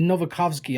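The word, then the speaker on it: Nowakowski: W's are pronounced as V's in a lot of Eastern European languages, so it would be Novakovsky, I think.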